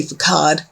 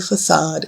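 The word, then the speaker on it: façade: I like to say facade. But the correct pronunciation is a facade.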